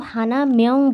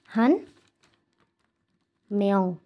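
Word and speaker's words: 한 명: আমরা সেটা কিভাবে বলবো আমরা কিন্তু হানা মেয়ং বলবো না আমরা বলব এখানে আমি দেখাই হান হান ম্যাও হান ম্যাও এই যে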